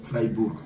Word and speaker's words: Freiburg: Maman est-ce que c'est comme ça qu'on prononce Fregourg ? Oui oui c'est comme ça. Fribburg. Ah d'accord. Quelqu'un a dit Freiburg.